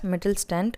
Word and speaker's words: Mittelstand: This should be pronounced as Mittelstand of Germany, which is recognized by world for manufacturing metal equipments.